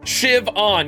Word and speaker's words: Siobhan: Shiv-on.